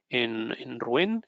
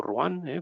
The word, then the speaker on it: Rouen: Entonces decía que estábamos en Rouen, o Rouen, pronunciado en francés, ya me perdonaréis por